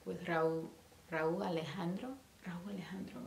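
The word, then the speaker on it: Rauw Alejandro: Raul Alejandro, right?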